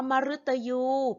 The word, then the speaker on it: มฤตยู: เสียง รึ นะ คะ อัน นี้ อยู่ หลัง พยัญชนะ มอ ม้า ค่ะ รึ อยู่ หลัง พยัญชนะ มอ ม้า อ่าน ว่า มฤตยู ค่ะ คำ นี้ อ่าน ว่า มฤตยู เป็น ดาว ชนิด หนึ่ง